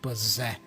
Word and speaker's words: possess: And I love the pronunciation too, because the first double S has a Z sound, possess.